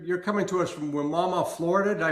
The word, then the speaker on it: Wimauma: So, you're you're coming to us from Wimauma, Florida? Did I pronounce that correctly?